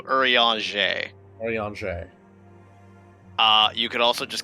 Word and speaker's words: Urianger: Urianger? Close. Again, French. So Urianger.